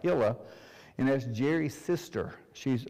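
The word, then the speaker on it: Hillia: message about Hilla and I think you spell it h-i-l-l-i-a but it's pronounced hila and that's Jerry's sister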